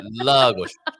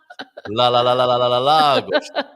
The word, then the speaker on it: Lagos: Well, congratulations, James, because he did a great job teaching you how to pronounce Lagos. That's very well. Yeah, okay. All right. Lagos. Lagos.